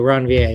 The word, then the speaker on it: Ranvier: they're named after and he was french so ranvier is how you pronounce it all often just referred